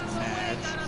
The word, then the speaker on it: Madge: It's Madge, which rhymes with badge, as in duh, and no as in more than Well, it's you.